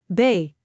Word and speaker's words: B: Bay is pronounced as B. Similar to the English B but softer at the end. Listen carefully. Say it with me. Bay.